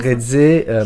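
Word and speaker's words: Reze: à prononcer son nom red C c'est comme ça que ça se prononce red m'a beaucoup touché il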